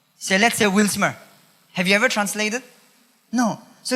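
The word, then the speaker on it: γνῶσις: ओ एस आई S nose और यह जो शब्द है नॉलेज जिस यूनानी शब्द से निकला है उ उसका उच्चारण है या उसको उसको बोला जाता है नोसेस के हिसाब से च मीस नोइंग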